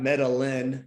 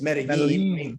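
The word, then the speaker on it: Medellín: I mean, I do that too, but I'm like, dude, it's not Medellin, Colombia. It's Medellin.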